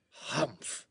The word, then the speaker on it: humph: one he added reassuringly hump said the sand fairy if you read this story aloud please pronounce humph exactly as it is spelled for that is how he said it do you know